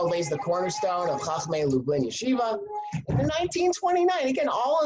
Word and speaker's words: Yeshiva: and the Chicago Yesa I'm contractually obligated to pronounce it Yeshiva um but they're not